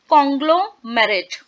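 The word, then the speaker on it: conglomerate: आपको ठीक तरीके से बताती हूँ, इसको आप प्रोनाउंस करेंगे, दैट इज कॉन्ग्लोमेरेट.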